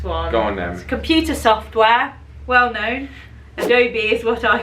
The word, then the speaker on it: Adobe: thought it was abby apparently some americans call it adobe adobe but it's adobe ah yeah adobe adobe